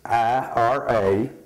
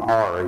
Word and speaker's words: Ira: his name is i-r-a Ira but the uh we always grew up calling Ari we never did pronounce his name correctly growing up and my wife didn't